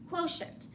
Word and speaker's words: quotient: a sh sound there it's actually a TI together and they're hearing all of those sounds quotient the ti c i